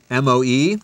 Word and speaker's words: moe: And also, Miss Asakawa's English in this show is M-O-E. How do you pronounce that?